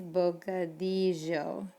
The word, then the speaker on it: bocadillo: word we talked about that double l sound it's bocadillo double l's make the same sound as like a y in english bocadillo or bocadillo and then think about